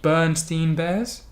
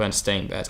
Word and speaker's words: Berenstain: I don't remember this person so the it's the bernstein bears I don't know Bernstein depends stains if you're in the u.s. it was a Bernstein bears and parent is actually the Berenstain Bears I made this bird